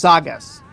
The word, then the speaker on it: SGS: Also, it's pronounced Sagas, Jade. Sagas. My apologies, Sagas. I just see SGS, so forgive me.